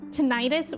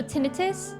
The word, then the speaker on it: tinnitus: My doctor always pronounces it with a soft I. So tinnitus? Okay. Tinnitus? I think it might be like tomato tomato.